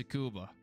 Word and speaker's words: Tsukuba: Yes, there's a T in the name of the circuit, but it's Tsukuba. You know, you don't really pronounce the T, so it's like scuba. Scuba.